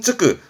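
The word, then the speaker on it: 就く: 요거는 발음 때문에 N1쯤에서 많이 언급됩니다만은 다 슈슈 하다가 요 성취만 발음이 조주가 되니까 챙겨둘 만한 부분이 있습니다. 동사로는 쯔끄, 말 그대로 취직하다.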